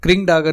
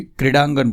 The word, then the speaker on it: क्रीडांगण: तो क्रिंगडागण नहीं बोलता कोई भी, क्रीडांगण बोलते हैं। तो ये जो बिंदु है ये ड के ऊपर है, क्रीडांगण मतलब मैदान।